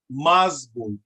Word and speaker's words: mazbul: Why am I saying that? Because the M is hard. It makes the vowel A hard, and a hard A is what? Ah, as in what? Opposite. A soft A is what? A, as in apple. So if that M is hard, that A is going to be hard. It's going to make the A sound like ah.